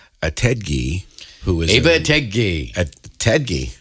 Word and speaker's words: Ettedgyi: Ettedgyi, right? Yeah. Did I Right. pronounce that correctly? You did.